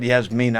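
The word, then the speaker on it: Jasmina: pronounced it Yasmina, I Yes. think, at first, Yasmina. but Jasmine, as we would say in the States, they don't use the J sound much. Usually they substitute a Y sound.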